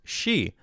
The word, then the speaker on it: Xi: Roddy says, I'm fairly sure it's pronounced Xi.